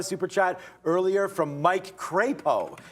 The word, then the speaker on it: Crapo: We got a super chat earlier from Mike Crapo. He did correct me on the pronunciation of his name because it was C-R-A-P-O. So I said something else, but it's Crapo there.